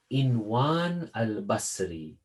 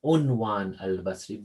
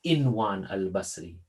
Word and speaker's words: Inwan al-Basri: across this hadith of Inwan al-Basri, or sometimes it is pronounced Unwan al-Basri. Both are correct, but generally I've heard the scholars, they say Inwan al-Basri.